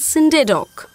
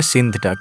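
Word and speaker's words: Scinde Dawk: ডাক স্ট্যাম্পের নাম শুনেছো ইউ মিন সিন্ডে ডক না ওটার উচ্চারণ কিন্তু আসলে সিন্থ ডাক আমিও এই ভুলটা করতাম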